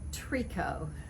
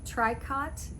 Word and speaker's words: tricot: ribs in the ribbon trico i've heard this pronounced tricot but no it's french once again and it